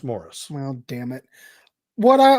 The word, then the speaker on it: Maurice: It's Morris. Isn't that Maurice? It's spelt Maurice, but it's pronounced Morris.